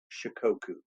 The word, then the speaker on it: Shikoku: Shikoku.